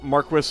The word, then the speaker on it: Marquess: berry to so well mark Chris is the British pronunciation they are pretty clearly trying to go for more of a British flavor if not for the you know the fact that I don't think any of the voice actors are British but you know that's what they're going for that's what they went for in final fantasy 12 so I'm gonna probably try to use the the British pronunciation of Marquess that's the first I've